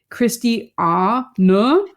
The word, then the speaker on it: Christiane: born in Germany and my first name you kind of pronounce like Christy a n so there's like a little bit of like a n at the end and that makes it